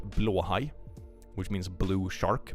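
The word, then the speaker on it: Blåhaj: piece it's actually pronounced BL High which means blue shark BL is blue and high is shark weirdly enough so so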